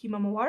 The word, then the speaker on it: himawari: himself and other artists it was called um himawari i think i'm pronouncing that right yeah there we go which